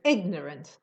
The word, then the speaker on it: ignorant: ice yes yes maybe ignorant the stress is on the first syllable yes to subvert the